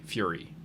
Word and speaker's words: Furie: It's spelled Furie, Fury.